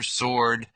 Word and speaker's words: sword: Silent W. Right, wrong, answer, sword, wrist.